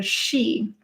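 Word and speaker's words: sidhe: mounds that are also called the she now that's spelled like s-i-d-h-e i think um and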